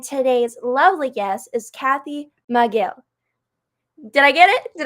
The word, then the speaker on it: Micheel: It's Micheel. Looks like Michael with two E's.